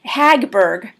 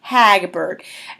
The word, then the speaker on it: Hagberg: remember this Janet Harburg Hagberg and Robert Goulet Bob gulick and Janet Hogg Berg let me say her name again I keep messing it up it's Hagberg Hagbard Janet H a G